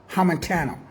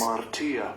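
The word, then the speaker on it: ἁμαρτία: 266, Hamartia. hamartia. Hamartia. Harmatia. I was close. I said hamentano, but harmatia.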